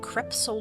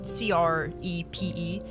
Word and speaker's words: crepe: remains including some blue creps shoes. I hope I said that right. It's spelled um c r e p e creepy paper. She had some creepy sold shoes. Yeah, that's how you say it.